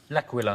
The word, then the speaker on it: L'Aquila: L'Aquila. Laka squawkalaka. I could never pronounce that word. That's okay. It is a night of bad Italian impersonation, so we'll let you in. But it's called L'Aquila. Yeah.